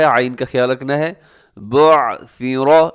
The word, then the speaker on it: بعثر: بعثر، یہاں سیٹی لوگ ڈال ہی دیتے ہیں تو سیٹی سے آپ نے بچنا ہے. بعثر ما فی القبور، قاف موٹا ہے، ما فی القبور.